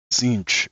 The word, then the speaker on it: Tzeentch: I'm probably going to get slaughtered for that pronunciation, but Tzeentch, I believe, is the correct pronunciation. I know growing up I used to call it Tzeentch.